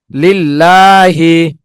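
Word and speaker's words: لله: আল্লাহ শব্দের লাম এর ডাইনে জের হইলে আল্লাহ শব্দের লামকে চিকন করিয়া পড়িতে হয়, যেমন লিল্লাহি। লিল্লাহি।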